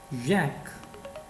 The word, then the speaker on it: Jacques: So first of all is Jacques Derrida. So he is a French scholar. So in French, the J, the pronunciation of J would start as Y.